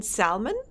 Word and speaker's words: salmon: You pronounce the L in salmon? Fascinating. I pronounce L in Warsaw, god damn it.